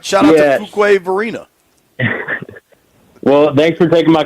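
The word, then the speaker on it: Fuquay-Varina: Fuquay Varina? Fuquay Varina, yes. That sounds like a city in Costa Rica, not North Carolina. Varina. All right, shout out to Fuquay Varina.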